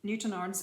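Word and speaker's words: Newtownards: in a little town in northern ireland called newton arts so it is newton arms is the pronunciation but it's spelled new town arts we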